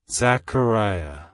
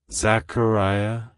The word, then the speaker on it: Zachariah: Zechariah it's pronounced as Zachariah Zachariah Zachariah to pronounce it correctly emphasize the care syllable and make sure to